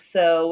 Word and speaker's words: sew: This type of sew is like if you were sewing a shirt or sewing a pillow or sewing a blanket or whatever you want to sew with a needle and thread. So that's S-E-W, sew, E-W, making that long O sound.